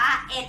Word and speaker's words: เอ็ด: ก็ คือ 9 ร้อยเอ็ด หลัก หน่วย เป็น ตัว เลข หนึ่ง เรา จะ ไม่ อ่าน ว่า หนึ่ง ใช่ ไหม คะ เรา จะ อ่าน ว่า เอ๊ะ นั่น เอง ค่ะ วัน นี้ นัก